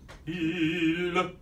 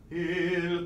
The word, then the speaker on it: il: just creep in with the L. It's, Il. Pronounce it. Concentrate on the I. Mm-hmm. And at the end, just last minute, mm-hmm. you put the L.